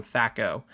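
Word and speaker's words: THAC0: i was hitting myself i'm going to keep saying thako over and over again thakur thakur thako it's a stupid word but that's that's how it's pronounced um it yeah so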